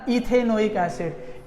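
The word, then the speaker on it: ethanoic acid: को कट कर दो, E को कट करेगी तो क्या आ जाएगा, ईथेन ओइक एसिड, तो इसका प्रोनाउंसिएशन आ जाएगा इथेनोइक एसिड।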